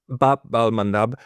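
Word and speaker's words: Bab al-Mandab: I was mispronouncing. Bab al um Madab Babal Mandab and the uh the the Saudis now got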